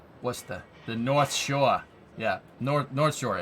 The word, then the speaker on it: Worcester: Worcester. You gotta say it right. Worcester.